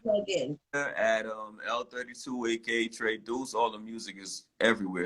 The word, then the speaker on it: Tre Deuce: Tre Deuce. Did I say it right? Yes, you did. You said it correct.